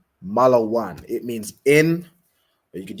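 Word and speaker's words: מלון: my hotel you're saying the so it's a malan where is the hotel okay well done what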